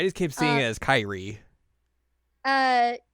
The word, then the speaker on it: Kyrie: name so weird yeah kir I just kept seeing it as Kyrie uh I would pronounce it Kiri because of kir alazon the song sure by Mr